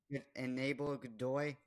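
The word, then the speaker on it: Aníbal Godoy: Just butchers his name wrong. He's hurt. Enable Godoy.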